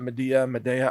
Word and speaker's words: Midea: And there's a brand that I have grown to trust, and it's called Midea, M-I-D-E-A. Or maybe you pronounce it Medea, I don't know. Midea? I pronounce it Midea.